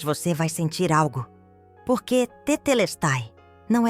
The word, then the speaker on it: Tetelestai: Pronuncia-se Tetelestai, com ênfase na terceira sílaba, les.